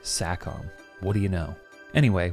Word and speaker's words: Sacom: And yeah, their name is pronounced Sackom.